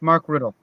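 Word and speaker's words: Rutte: Remind me again how to pronounce his surname. It's Mark Riddle.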